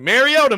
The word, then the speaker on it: Mariota: Like Mariota, Mariota, Mariota.